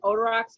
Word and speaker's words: Odorox: Yep, it's an Odorox hydroxyl machine. That's OD. Hang on, let me look at it to be precise here. It's a ODOROX hydroxyl HYDROXYL machine.